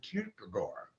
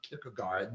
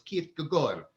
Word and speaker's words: Kierkegaard: whose name was zorin kierkegaard right that's how you pronounce the names not pick a guard that this the d is silent in danish so it's keith gagor that's how you pronounce